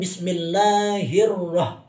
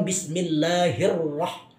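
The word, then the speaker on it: بسم الله الرحمن الرحيم: mengucapkan bismillahiroh banyak mengucapkan Bismillahirrahmanirrahim pakai h besar bukan bismillahirroh itu yang pertama pengucapan antara hak kecil dan hak besar yang benar itu pengucapannya dengan memakai huruf ha bukan bismillahirroh suaranya di luar bukan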